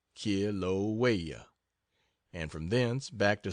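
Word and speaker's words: Kilauea: the world that of kilaa pronounced K waya and from then back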